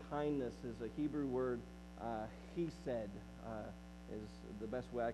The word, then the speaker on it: chesed: Loving kindness is a Hebrew word, chesed, is the best way I can pronounce it. You can spell an English way to spell it, C-H-E-S-E-D, chesed.